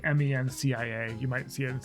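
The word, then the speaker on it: Mencía: The Spanish pronounce this Mencia. It's like Mencia. You might see it and say Mencia, and that would be fine too.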